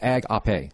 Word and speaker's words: agape: actually in the graces AG up a is how you pronounce it in the Greek and overall definition of